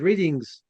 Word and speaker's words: Reading: Now, I'm just reading this and I said readings university. It's not readings, it's readings.